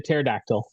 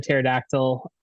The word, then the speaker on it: pterodactyl: have to add the pterodactyl um you you know why it's dangerous to walk underneath a pterodactyl right why their PE is silent oh don't forget to